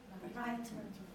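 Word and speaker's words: Brighton: The name of a city and the verb from bright, you brighten up the room, you brighten up something. It's pronounced exactly the same. Brighten, brighten, brighten. It depends. But anyway, the stressed syllable, the first one, bright, brighten, brighten.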